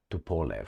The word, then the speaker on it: Tupolev: Tupolev, that's how you say it.